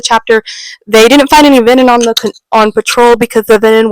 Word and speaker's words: venin: And they didn't find any venin on the trip, which I think I pronounced it Vernon. Last recap, it's venin.